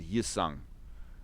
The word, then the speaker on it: Hyosung: In actual fact, the H is supposed to be silent. So it should be Hyundai and Yusung.